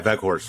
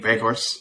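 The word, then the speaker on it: Weghorst: Yeah, Veghorst. Veghorst.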